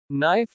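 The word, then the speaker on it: knife: जब K अन के पहले आता है तो K का उच्चारण नहीं होता। नो जानना। नाइफ चाकू।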